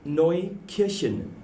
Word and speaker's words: Markneukirchen: Markneukirchen. I will never say that ever. I'll never get it right. Say Mark. Mark? Yeah. Neu. Neu? Kirchen. That's the one.